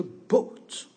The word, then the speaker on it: bought: buy, ça va donner bought. I bought, au passé, ici, passé simple. Bought. N'oubliez pas, on ne prononce pas ici le UGH. Les UGH, on ne les prononce pas.